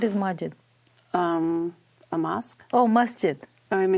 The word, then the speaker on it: masjid: There is an S there. Masjid. M-A-S-J-I-D. Masjid. Mosque. Okay. Yes. That's okay. No, so masjid is a name.